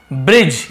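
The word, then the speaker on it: bridge: ब्रिज, यहाँ पे D silent रहता है, ब्रिज, ब्रिज यानी होता है पुल, तो हम क्या बोलते हैं ब्री, BRE को ब्री।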